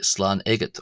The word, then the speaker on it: Slán agat: But the person leaving will say slan eggot or ugget as some people like to say.